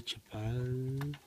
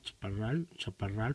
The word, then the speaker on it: Chaparral: Ahí está un Bandai Chapal, creo que se pronuncia Chaparral, perdón. Bandai Chaparral, yo Chapal.